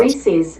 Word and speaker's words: Reese's: People tend to pronounce Reese's it. one of two ways, either Reese's or Reese's, and 2. The popular chocolate Reese's brand peanut is, butter in fact, pronounced Reese's, Apparently. named after its founder, Helen Burnett Reese.